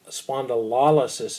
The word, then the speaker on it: spondylolysis: L means vertebra spandau spondylolysis is how you pronounce that lysis means to break